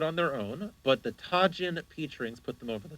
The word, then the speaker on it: Tajin: not a spice boy or tahin whatever tahin sorry Tajin I'll just call it Tajin because I I like